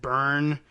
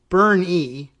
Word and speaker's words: Boerne: And I don't know, I guess I probably winged it and said Bern, Texas, but it's Berne, like Bernie. Both of you said like Bernie Sanders.